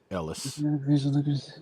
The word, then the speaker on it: Elias: Cong soldiers and Sergeant Elias? Yeah. William Defoe. Ellis. Oh, Ellis. Yeah, sorry. Yeah, it said it. It's spelled Elias, but it said Ellis. At least down here, that's how you say it.